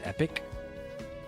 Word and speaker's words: epoch: You think Epoch is pronounced epic? What?